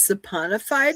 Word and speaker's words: saponified: And here, Isabel wrote here, once the fat is saponified, is that the correct pronunciation, Rick?